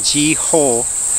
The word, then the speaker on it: Jiho: And I was thinking, when I say his name, Jiho, but if you say it fast, it's like Geo.